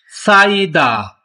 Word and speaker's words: 쌓이다: 이, 쌓이다, साइदा, ये हियत है। हियत जो है ये खत्म हो जाएगा, सिर्फ साउंड होगी साइदा।